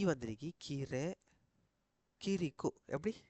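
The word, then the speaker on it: 그리고: அங்கால என்ன வந்துருக்கு இக் இ ரீ வந்திருக்கு கீரை கிரிக்கோ எப்படி கீ இர்ரி கிரிக்கோ கிரிக்கோ.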